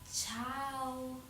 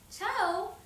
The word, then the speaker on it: ciao: What do we say in if if you're there in Italy, in Italian, we say ciao. Ciao, c i a o ciao.